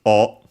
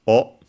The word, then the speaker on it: を: More often than not pronounced as O. Sometimes you can hear it as a W, for example, in singing. Um, but usually it's pronounced as O.